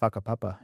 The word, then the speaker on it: Whakapapa: Did I pronounce this right? Whakapapa, yeah.